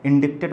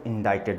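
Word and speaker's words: indicted: तो एक वर्ड जो बच्चे यहाँ पे लिखा है दैट इज इंडाइटेड, ठीक है, इंडिक्टेड मत पढ़ना, दैट इज इंडाइटेड, जिसमें सी साइलेंट होता है।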